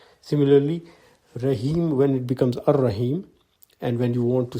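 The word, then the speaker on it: الرحيم: l goes silent similarly when you add al to raheem the al-rahim is pronounced as ar-rahim the l goes silent so if allah the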